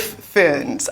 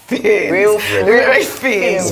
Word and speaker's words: Fiennes: I actually only realized how to pronounce Ralph Fiennes. I thought it was Ralph Fiennes my entire life.